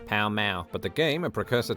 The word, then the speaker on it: Pall Mall: game called Palamaglio, or Pall Mall, the pronunciation of which can still be heard in London today, when locals pronounce the street name of the same name, Pall Mall.